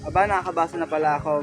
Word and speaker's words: ABNKKBSNPLAko: that autobiography long title is meant to be read phonetically as Aba Nakakabasa na Pala Ako which when translated to